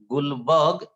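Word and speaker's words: Guldberg: दो साइंटिस्ट थे जो इस पर स्टडी कर रहे थे, गुलबर्ग डी साइलेंट है, गुलबर्ग एंड वॉगे।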